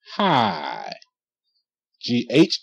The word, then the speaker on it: high: The World Is A Ghetto hi h i hi GH is silent sometimes the GH makes no sound okay